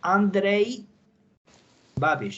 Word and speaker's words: Andrej Babiš: It's Andrej Babiš. It's pronounced like that.